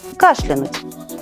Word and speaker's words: кашлянуть: Несмотря на то, что в разговорной речи широко распространен вариант с ударением на конце слова, литературная норма говорит, что в слове «кашлянуть» ударение падает на первый слог.